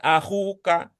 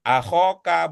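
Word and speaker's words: أخوكَ: Kemungkinan kedua karena itu dia mengatakan akhuka, bukan akhoka, bukan akhika. Begitu juga di sini tadi Bu Yayah sudah membacanya ukhtuka bukan ukhtaka bukan ukhtika.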